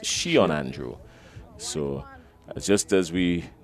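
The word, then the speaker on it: Sheon: the spelling as he's out s-h-e-o-n so it's pronounced Shion Andrew so just as we got his name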